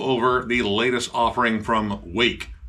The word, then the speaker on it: Rwake: the latest offering from Wake with an r in front of it I've was trying to